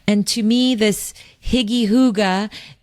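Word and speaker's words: hygge: I discovered this word, it's called huga, and it it's spelled higgy. H y g- e. And I actually used to say higgy for years, but that's what I say.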